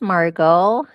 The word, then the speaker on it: Margot: Well, so my name is Margot and Margo. Sorry, I said it wrong. I look at the spelling and I keep saying that T and I know better.